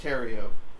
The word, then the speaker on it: Theriot: We sat there and tried to figure out names, but I am blessed with the last name Terrio, which if you spell it out, it's THERIOT. The Riot.